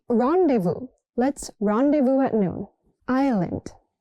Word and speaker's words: rendezvous: This one is tricky. Not rendevous. It's rendevu.